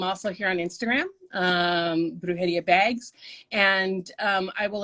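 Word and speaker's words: Brujería: um i have an etsy store um it's pronounced brujeria bags um and uh it's b-r-u-j-e-r-i-a bags and i have an etsy store i am also here on instagram um brujidia bags and um i will announce like what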